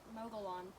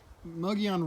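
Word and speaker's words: Mogollon: is right up there my teacher in school calls it the mogul oh that teacher would be incorrect it is a difficult word to pronounce it but so the the muggy on rim is like a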